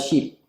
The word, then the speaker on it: ship: sheep on a ship. Okay. This pronunciation problem is the long E sound in sheep and the short I sound in ship. Eh.